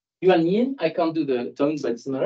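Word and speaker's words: 原因: Reason, the word reason in Chinese, I couldn't dare pronounce it. Could someone indulge me? Yuan Yin. Yuan Yin, I can't do the tones, but it's not.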